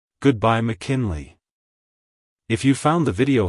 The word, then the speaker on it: McKinley: in Mackin Le and make sure to stress the first syllable also the Le is pronounced as Lee like hello McKinley goodbye McKinley if you found the